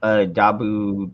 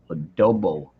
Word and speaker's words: adobo: you for coming up here angel song love adabu chicken adobo chicken adobo adobo oh you know that said it wrong adobo I lived on Guam for three and a